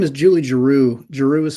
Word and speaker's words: Giroux: of that composer again her name is Julie Giroux girou is spelled g-i-r-o-u-x um you see she wrote this